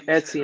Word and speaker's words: Etsy: I keep saying it wrong. Etsy. Yeah, Etsy.